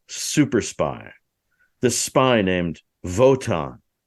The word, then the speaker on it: Wotan: He talks about this super spy, this spy named Wotan, which is spelled with a W, but because he's German, they say it with a V.